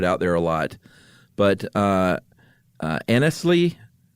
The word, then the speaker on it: Anglesea: But Anglesea v. Anglesea. I would say Anglesea. Anglesea? Mm-hmm. Really? Yeah, I guess you could pronounce it Anglesea, huh? It's Anglesea, Jennifer Aniston versus Julio Iglesias.